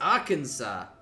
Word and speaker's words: Arkansas: in the description but the map is Arkansas I think yep indeed and I even said it right I said it right you said it did it 100% like the American way like that's good it